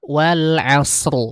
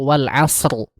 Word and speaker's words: wal asr: Contohnya kayak surah Al-Asr, wal asr. Harusnya kan rohnya muncul wal asr. Tapi kadang dibacanya cuma wal as atau mungkin wal asri.